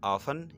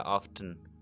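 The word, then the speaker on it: often: ये word ऑफ्टन, इसको आप ऑफन या ऑफ्टन, ठीक है, दोनों तरीके से प्रोनाउंस कर सकते हैं, दोनों प्रोनाउंसिएशंस सही है।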